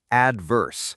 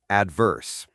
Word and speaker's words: adverse: The stress is on the first syllable. It's adverse, not adverse.